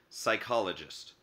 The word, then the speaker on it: psychologist: plant and animal cells could also start with the letters P s like the term psychologist a psychologist is a